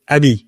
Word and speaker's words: AMI: use internally at MAA we pronounce it AB because friend there a lot of French people okay also means friend right in French but that's the same